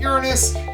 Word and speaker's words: Uranus: Then there's Uranus, and yes, I'm pronouncing it Uranus.